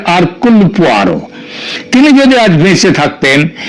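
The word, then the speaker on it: Hercule: এবং তার গোয়েন্দা আরকয়ার এটা যদিও উচ্চার উচ্চারণে এটা হয় হারকে কিন্তু একচুয়ালি উচ্চারণটা হচ্ছে আরকুলার তিনি যদি আজ বেঁচে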